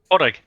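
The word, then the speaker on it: Pádraig: Am I Podrick? Padre. Like Patrick. How do you say it? Padre. Like How do you say Patrick. it? Padrick. Okay. Porrig. Noble. Or Porrig. Porrig.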